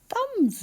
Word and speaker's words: thumb: It was W-A-S, and thumb rhymes with crumb, and in both of them we need to remember to write the letter B at the end.